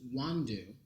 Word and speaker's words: Nwandu: And it turns out that she remembered the correct pronunciation of my last name, which is Nwandu. The N is silent.